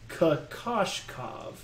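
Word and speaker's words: Kokoškov: I've gotten a production note here from our production team who told me that is Kokoshkov. Did I hit that one, production team? All right, Josh says that's how you pronounce it.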